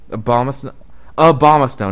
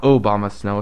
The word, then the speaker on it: Abomasnow: Abomasnow, not Obamasnow.